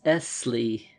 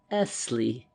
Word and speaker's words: Esley: "My name," he said, "is Esley." He pronounced the word, lingering upon the double S till it sounded like a long hiss. "Esley," he repeated as though he derived some satisfaction from the repetition.